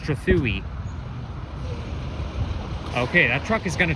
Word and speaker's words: Trethewey: And it's not pronounced Trethewey, it's pronounced Trethewey.